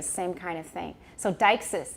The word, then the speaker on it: deixis: So Deixis, it's D-E-I-X-I-S, Deixis.